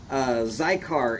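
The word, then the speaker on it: Xicar: Zycar is spelled X-I-C-A-R.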